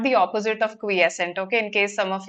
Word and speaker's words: quiescent: here the word quiescent this is pronounced as quiescent not quiescent quiescent has been underlined